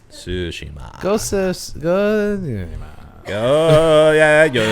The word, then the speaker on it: Tsushima: I was saying it exactly how it's pronounced. Tsushima.